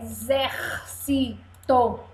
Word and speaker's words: exército: agora eu sou um x com som de z é exército exército ontem quatro pedacinhos